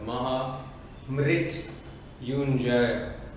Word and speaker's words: Mahamrityunjaya: So, this mantra that I'm going to do right now is the key is in the pronunciation. The Mahamrityunjaya.